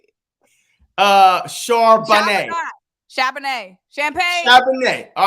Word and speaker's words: Charbonnet: Charbonnet. Champagne. All right. So Zach Charbonnet, right?